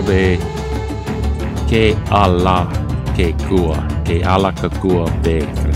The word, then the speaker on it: Kealakekua: Calico Bay. Kealakekua Bay.